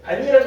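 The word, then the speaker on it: 밭이랑: 음마가 일어나요 안 일어나요 어떻게 발음해요 반니랑이라고 하지 이걸 바치랑 이이라고 발음 안 해요 내 말 이해하겠어요 그래서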